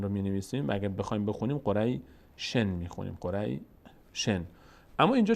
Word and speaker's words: قریش: کنیم وقتی قبلشم ساکنه قریش قریش قریش قریش دقت کنید قریش قریش شین یک صدایی ازش میاد اما حرکت نداره الان من به شین